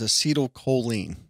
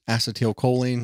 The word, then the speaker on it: acetylcholine: It's going to release a chemical known as acetylcholine, also known as acetylcholine. It's pronounced a couple different ways.